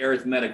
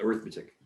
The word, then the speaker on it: arithmetic: is an arithmetic so we like to pronounce it arithmetic when we talk about sequences otherwise you can call it arithmetic so this is an